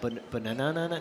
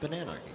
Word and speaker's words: Bananarchy: It's a very cool bot and it's it looks like it's going to be really hard to pronounce, but then it's not. It's pretty easy. You're like, "Oh, is it banana no?" No, it's just bananarchy.